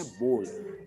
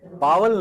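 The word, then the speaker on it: bowl: इसकी सही प्रोनाउंसिएशन है बोल, बावल नहीं, बोल।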